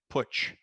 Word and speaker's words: Putch: my side of the family we we uh pronounce it patch but my pittsburgh relatives they all say putch which i don't understand because it's an italian